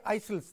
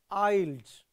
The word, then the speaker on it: isles: yes of snake or your IELTS don't say isils this is Iles right the correct pronunciation is not saw also that the River